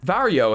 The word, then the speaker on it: Varjo: with me that's fine vario has teased a vario for all message ahead of the new reveal and i was told that that's how i'm supposed to pronounce it ahead of an announcement